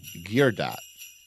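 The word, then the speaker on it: Guerdat: was written by Andy I think he pronounces his name geot it's gu r d a t he also wrote Fraternity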